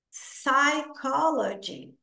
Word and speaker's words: psychology: vai pronunciar o h psychology p is Silent não pronunciamos o p p é silencioso Silent p nós não